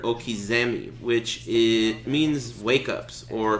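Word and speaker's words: okizeme: flavor bomb what does Oh kazumi mean well I get asked that wha I guess it's fair Oh Kazumi is a mispronunciation of the word Okies Emmy which it means wake-ups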